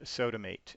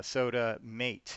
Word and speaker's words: SOTAmāt: of these things into this new tool called sodomate and it's spelled funny because it's actually a phone number and that's the seven digits of the phone numbers soda mate and I didn't have an e to make